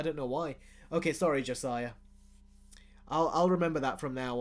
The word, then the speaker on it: Josiah: And okay, and my name, and he says also my name is pronounced Josiah Is Not Funny.